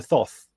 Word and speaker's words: Thoth: So, Th is it is it is it spelled Thoth pronounced Toth like Anubis?